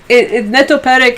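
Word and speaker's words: netopýrek: That's my, Netoperek is how you say bat in Czech.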